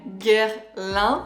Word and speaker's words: Guerlain: En français, Guerlain.